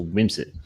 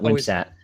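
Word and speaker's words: Wimsatt: it wrong it's a whims it it's not website so it's whims it Whimsy I think everybody says it so it's a whims so it's basically you're not really emphasizing the the two T's that's what is it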